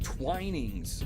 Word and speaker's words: Twinings: oh man oh man pronounce the same as the T oh twinings okay reset twinings okay